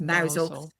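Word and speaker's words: Mousehole: And there's a big celebration in Mousel, which is spelt mouse hole, but it's pronounced Mousel.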